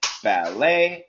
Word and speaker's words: ballet: Ballet, chalet, valet. Okay, the intonation, the sound is always the same.